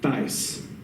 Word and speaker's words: Thais: But he wrote this play about this woman named Thais.